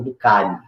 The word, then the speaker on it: Durkheim: Para a gente entender essas ideias, nós vamos falar do pensador chamado Emile Durkheim, né? Ou Durkheim, vai depender da pronúncia.